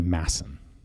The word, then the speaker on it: Madsen: danish so it's actually mason you don't pronounce the d which i've been told